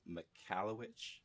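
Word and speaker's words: Michalowicz: the pumpkin plan um it was mike mccallowich i think how's how he pronounces his last name and this was a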